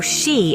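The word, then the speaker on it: 四: the number four or she in Japanese shares the same pronunciation as the word for death as a result it's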